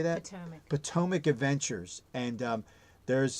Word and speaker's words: Potomac: Potomac.